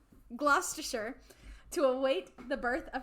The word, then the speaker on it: Gloucestershire: to studly Castle and I know how to say this gloucestershire like Worcestershire gloucestershire to await the birth